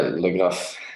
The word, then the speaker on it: Legraf: Legraf? yeah, Legraf.